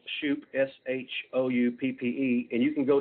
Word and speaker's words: Shouppe: it's um it's free so my last name is spelt shoop s-h-o-u-p-p-e and you can go to my website